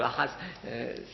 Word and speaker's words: Ahaz: Ahaz, ou Akaz si vous préférez, mais ça se prononce en hébreu Ahaz.